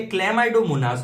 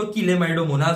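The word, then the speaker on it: Chlamydomonas: मैं तो इसको किलेमाइडोमोनास बोलता हूं क्योंकि मैंने यही पढ़ा था। बट एक्चुअल प्रोनाउंसिएशन क्लेमाइडोमोनास है।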